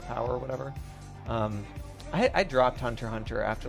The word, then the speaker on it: Hunter x Hunter: It sounds to me like it reminds me of Hunter x Hunter. Or Hunter x Hunter, I guess is how it's said. I always say the X.